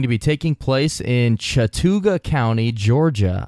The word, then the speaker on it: Chattooga: be taking place in Chattooga County Georgia I think that's how you pronounce it Chattooga Chattanooga no that's not Chattanooga there that is gonna come up later but I believe it's Chattooga and this would be